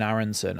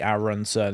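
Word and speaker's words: Aaronson: insist on calling him Brendan arenson as in like instead of it's already Aronson it's already three syllables his name and I'm adding two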